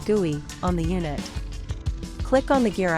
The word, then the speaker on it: GUI: To access the unit calibration procedures, open the device graphical user interface (GUI), pronounced GUI, on the unit.